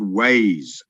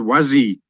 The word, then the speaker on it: Waze: I downloaded a program called Waze. I believe it's called Wazi where you are. It's spelled W-A-Z-E.